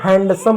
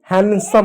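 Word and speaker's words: handsome: बहुत सारे लोग इसको हैंडसम पढ़ते हैं। हैंडसम नहीं होता है। हैंडसम होता है।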